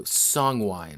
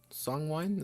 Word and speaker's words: Songwin: So Songwine or Songwin? Songwine? Is that how it's spelled?